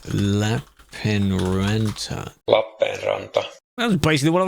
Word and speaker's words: Lappeenranta: How to pronounce Lappeenranta?